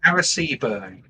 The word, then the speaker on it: Arecibo: Eris, how do you pronounce it? Arecibo? Arecibo.